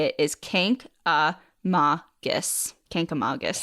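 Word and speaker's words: Kancamagus: other twos are O's many people try to put a second n in the word and say kangus this is the most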